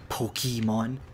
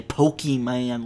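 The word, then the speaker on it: Pokémon: you need to do crafty stuff today dude Pokemon even though I was singing the kirby song pokemons hey know these sisters one cool think about Alexandria Acacio Cortes she doesn't say pokeyman like other politicians would to see it's actually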